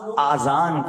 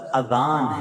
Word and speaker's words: اذان: بعض لوگ آذان کہتے ہیں، یاد رہے پہلے اذان کہتے کس طرح ہے، اس کا تلفظ سے بچ لیں. آذان اذن کی جمع ہے، اذن کہتے کان کو. یہ آذان نہیں ہے، یہ لفظ اذان ہے، ٹھیک ہے.